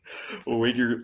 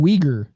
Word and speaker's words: Uyghur: Fucking Uyghur law. Jesus. I think you mean Uyghur. Is that how you pronounce it?